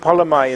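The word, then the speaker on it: ผลไม้: It's P-O-L, but L in the final position in the syllable is pronounced N in Thai, the letter. And if you break polamai into parts, it means result, tree.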